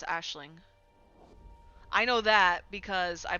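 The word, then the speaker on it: Aisling: So this ice is actually pronounced Ashling.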